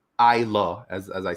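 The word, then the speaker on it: Islay: it's down there and isla is well it's pronounced i lo as as i said um a lot of people will say i is lay that's how you pronounce it it's isla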